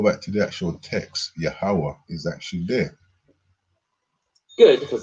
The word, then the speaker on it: Yahweh: artificial hybrid word, which if you pronounced it, it would say Yahuwah, but no Israelite. See, they're being conniving, Yahweh. They know it's actually Yahweh.